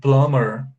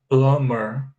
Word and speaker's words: plumber: to the b here the b is silent you have here a b which is silent it's called a silent